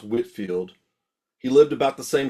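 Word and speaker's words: Whitefield: Actually, it's pronounced Whitfield.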